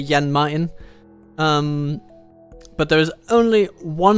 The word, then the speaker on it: Jan Mayen: I'm unsure of exactly how to pronounce it, but as a Dane, I would say Jan Mayen.